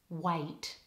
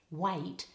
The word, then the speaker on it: wait: a vowel in wait this a is difficult for many non-native speakers and often speakers make it more like a single vowel so when they say a word like wait it actually sounds more like wet so we need two vowels it's a a wait waiting list